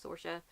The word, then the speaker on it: Saoirse: are some different pronunciations just like Saoirse sorsha Saoirse there is Eilish and there's